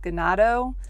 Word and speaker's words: Ganado: It's in, I think it's pronounced Ganado. It's G-A-N-A-D-O, Arizona.